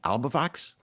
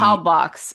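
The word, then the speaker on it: Halbwachs: Do you pronounce the sociologist's name Albavox? Is that how you say it? One of which the one? one of the sociologists that you cite, it's not spelled that way. I think the first it's Halbwac. Halbox.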